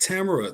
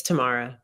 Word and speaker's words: Tamara: saying your name wrong is it Tamara tomorrow it's tomorrow tomorrow um I don't know